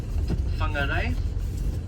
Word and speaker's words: Whangarei: So if you go further north, you go somewhere like Whangarei.